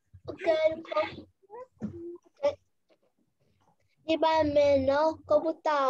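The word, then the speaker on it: を: Cô Hiền viết là WO nhưng mình đọc là O nhá.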